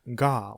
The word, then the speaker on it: ヶ: a new word and it's pronounced ga when used this way again, not ke, (sarcastically) how intuitive The